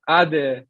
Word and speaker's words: ade: So it's ade, right? How do you spell it?